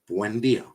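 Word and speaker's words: Buendía: Not that difficult, considering it's basically how it's spelled. Buen. Buen. Buendia.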